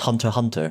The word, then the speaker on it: Hunter x Hunter: hunter x hunter is an anime it's apparently pronounced hunter hunter so i've heard oh okay hunter cross hunter or something yeah the expanse i've heard excellent